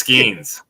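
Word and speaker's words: Skenes: Jonathan, how about Paul Scoons, man? Bless you. Was that how you say his name? No, it's Skeens.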